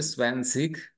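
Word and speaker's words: zwanzig: स्वान कहते हैं दोस्तों स्न सिक उसको बोलते स्वन सिक 20 को स्वन सिक बोलते दोस्तों तो हमने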